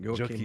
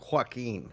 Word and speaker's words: Joachim: So I wanted to say Joachim, right? Nobody's not pronounced the J? No, that's fine. Joachim is fine. Joachim. The moment you don't tell me Joaquin.